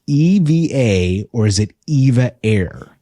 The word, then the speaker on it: EVA: E separate, V separate, A separate, just so you know. So there you go. Very clear on how to pronounce the airline name. It's EVA.